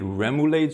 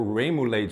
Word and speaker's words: remoulade: Next, I have a homemade remade sauce or ramulade sauce, depending on how you pronounce it, and I'm going to slather that generously on both the top and the bottom.